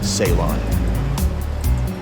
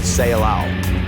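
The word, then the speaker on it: Ceilão: of India remains simply Salon that word Salon is as a matter of fact a mistaken pronunciation of the Portuguese word seow the name given by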